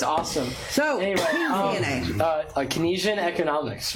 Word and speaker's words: Keynesian: Keynesian. Keynesian.